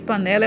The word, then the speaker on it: panela: Panela, vamos fazer de conta que panela é uma pessoa. Panela. Tá vendo? Demoramos mais falando o né.